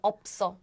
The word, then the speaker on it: 없어: But the thing is, if you read letter by letter, it's up, and up. But when you link the word, when you Okay. link the word, then the pronunciation is changed as 없어.